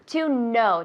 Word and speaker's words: know: Tiene una K, pero no se pronuncia. Es silenta. Silenta decimos. Silenciosa. Silenciosa, pues no sabía. Silenciosa. To know, decimos. Que no, no. To know. To know, como yes, no.